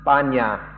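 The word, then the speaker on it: ปัญญา: the corresponding Thai word like Tanya in Pali this trance in Thai is pronounced banya in some Thai people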